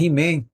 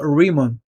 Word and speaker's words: Riemann: que é bem parecido se você falar he-man eu não vou lhe condenar por conta disso mas o termo certo ou a pronúncia mais apropriada seria Hickmann bom mas aí você fica à vontade se você não conseguir chamar você pode chamar de he-man tranquilamente eu acredito que o